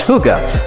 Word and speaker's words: hygge: Finally, the Danes have given the world the concept of hygge, pronounced hygge, a warm, very human term for time spent